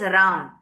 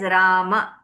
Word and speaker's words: Rama: You cannot read it as Ram. You have to read it as Rama. Okay? If you said Ram, then I must write it like this, ending with a pure consonant, Ram. Then only it will be read as Ram. But this word doesn't exist. There is no word called Ram. It is Rama.